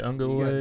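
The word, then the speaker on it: Uiagalelei: He said, I can't pronounce his name. What is his name for Clemson? DJ Ungalua.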